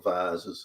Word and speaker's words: vase: this very delicate um vase or vasees as we pronounce it in Australia on some sort of